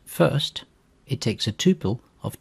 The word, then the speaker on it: fst: more built-in polymorphic functions there is the FST function which is pronounced first it takes a tuple